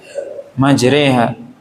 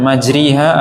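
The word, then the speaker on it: مجراها: antara fathah dengan kasrah maka membacanya majreha bukan majriha atau majroha tapi antara fathah dengan kasrah dan ini satu-satunya dalam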